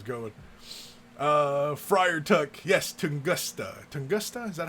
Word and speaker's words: Tunguska: Tunguska, is that how you say it?